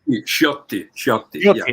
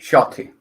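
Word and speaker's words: Sciotti: Gianetto De Rossi and Enzo Sciatti, is that how you say it? Ciotti. Shotty.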